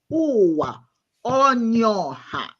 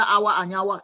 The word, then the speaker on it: Uwa Onyoha: This is how you say, Uwa Onyoha. And I sat there and she learned it. So the next time I heard it, it was no longer Awa Anyawa, it was Uwa Onyoha.